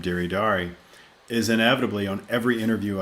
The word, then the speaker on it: Deri Dari: interview they're like so is it deary dairy deery dari how do i say it jake i'm like oh it's diri dari d-e-r-i-d-a-i that's how